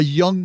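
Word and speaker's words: Jung: on a young lad out in Texas a young man by the name of Young Money AKA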